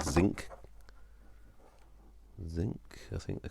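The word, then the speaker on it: Zink: cartridges, which are called zinc. Zinc, I think they're called. Oh yeah, zinc, because as in the metal zinc, but with it spelt with a K rather than with a C.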